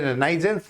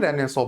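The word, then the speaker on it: Renaissance: अब ये रेनाइजेंस जैसा लिखा हुआ आपको दिख रहा होगा, लेकिन इसका जो प्रोनाउंसिएशन है दैट इज रेनेसो। तो यूरोपियन रेनेसो मतलब वहां पे यूरोप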